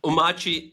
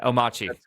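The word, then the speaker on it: Omarchy: So Omachi, that's what it is. All right, Omachi.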